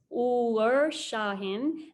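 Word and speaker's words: Uğur Şahin: the covert 19 vaccines and i hope i don't mispronounce this my turkish friend said that this is correct scientists uhur shahin and ozlum turechi who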